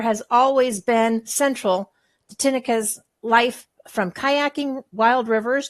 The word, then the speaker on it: Tineke: Did I pronounce that right, Tineke? Yeah, Tineke.